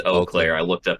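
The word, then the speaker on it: Eau Claire: or oakair you guys let us know it's O Clair I looked up how to say it e Au CLA is pronounced o CLA oh Claire oh Claire also the yeah oh Claire the World Championships takes place in on the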